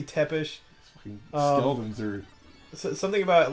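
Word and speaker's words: Țepeș: I've heard James Rolfe pronounce it Tepish. Yeah, and I'm gonna assume that's correct. Yeah, I've actually never heard it. I've heard Tepiz, but it might be Tepish.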